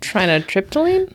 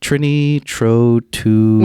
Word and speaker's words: trinitrotoluene: That might be an actual element, and I may have pronounced it very wrong. Trinotriptyline? Trinitrotoluene.